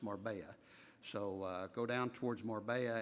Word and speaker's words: Marbella: It's spelled Marbella, but it's pronounced Marbella.